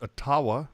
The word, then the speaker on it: Ottawa: time and you know obviously pronounced atawa but go ahead and